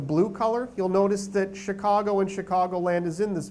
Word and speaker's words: Chicago: Sometimes we forget about Chicago's unique French history, but do you hear many other words that begin with the letter CH and are pronounced with a sh kind of sound? That's French, right?